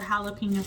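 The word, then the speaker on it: jalapeño: Um, or jalapeno peppers is the proper way to say it.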